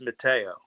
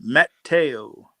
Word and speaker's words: Matteo: My my last name the way No, the the pronunciation of my last name is Matteo. He called he said Mateo.